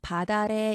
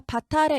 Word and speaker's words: 밭 아래: 자, 티읕의 대표음은 같은 치조음인 디귿입니다. 바꿔주고 이렇게 대체를 해준 다음에 뒤 음절 첫소리, 이 모음으로 시작하는 음절 말하죠. 여기서 옮겨서 발음하세요. 디귿을 옮겨서. 그럼 바다래, 이게 최종 발음이 돼요. 이게 표준 발음입니다. 자, 여기서 바타래 이렇게 대표음으로 바꾸지 않고 받침을 바로 연결해요.